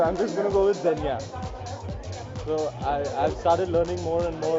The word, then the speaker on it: Zegna: I always get confused, so I'm just gonna go with Zenya. So I've started learning more and more about sharp dressing and stuff. So now I know it's not Zegna.